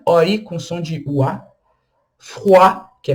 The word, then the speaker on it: froid: Froid, que é frio. Froid, tá vendo? Cuidado para não pronunciar Freud. Freud. Não, é froid. O D não é pronunciado e o OI tem o som de UA.